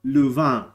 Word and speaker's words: Louvain: It's called Leuven in Dutch or Louvain in French. But I pronounce it Leuven.